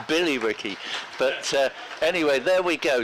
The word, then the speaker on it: Billerica: He says there is a Billericay in Massachusetts, but he says, albeit it's spelt with a Y and pronounced accordingly, which I assume he means it's Billy Ricky.